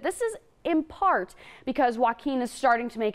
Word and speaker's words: Joaquin: just a second but Joe Quinn or I'm sorry Joaquin not joe quinn i've been mispronouncing it all week it's a tricky one